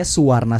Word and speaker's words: Suvarna: besar-besar di suarnastra gitu kalau suarna Sutra sebenarnya spellingnya suvarna Sutra pakai v gitu iya cuma karena kami bahasa Sansekerta Jadi kami dibacanya Suwarna Sutra gitu Jadi emang suarna